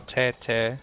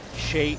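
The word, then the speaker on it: 谁: Ni hao, che, che. Hansi nam gan duen. No se dice che, che, se dice shei, she, wichu, por favor.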